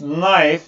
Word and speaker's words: knife: Can you blah blah blah this knife, this is not knife, this is knife, into the cupboard please? Knife diye okunmuyor arkadaşlar. Knife diye okunuyor. Burada K sessiz K.